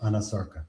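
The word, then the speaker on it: anasarca: examiner, did she have a condition known as anarcha? If I'm not mispronouncing it. No, you're pronouncing correctly. She did have a condition called anosarkca.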